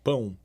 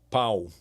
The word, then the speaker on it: pão: not, but uh like bread in Portuguese is pão, right? That's how we pronounce pão. And for some reason, US citizens they're going to pronounce pau instead of pão. They don't They They are unable to say pão. They're going to end up saying pau.